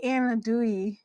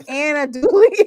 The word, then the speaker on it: andouille: And girl, it ain't no damn Anadouille. It's andouille.